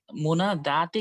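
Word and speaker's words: منادى: উস্তাদ যে মোনা মোনা দাতে কি মানে টান উচ্চারণ আসে? হ্যাঁ, মোনা খাড়া দা। জবর, খাড়া জবর। দাল ইয়া, খাড়া জবর আছে ওখানে।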